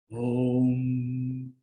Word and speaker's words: Om: Om. Si ustedes se pueden dar cuenta, la pronunciación de la M es como la pronunciación de un buey, de una vaca.